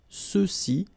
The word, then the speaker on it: ceux-ci: Okay, remember final X is not pronounced, so you get the sound ce, ceux-ci, and then ceux-là.